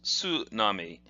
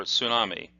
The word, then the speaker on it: tsunami: Port harbour and together this is pronounced tsunami or a tsunami and that means a